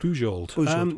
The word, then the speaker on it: Bujold: Was it Beald or Bujold? Bujold.